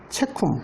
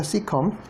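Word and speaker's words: caecum: 그래서 A가 발음이 되지 않아요. 그래서 나중에 영어로 변할 때는 이게 이런 식으로 그냥 A가 빠져서 체쿰, 그러니까 시컴이라고 있죠. 시컴.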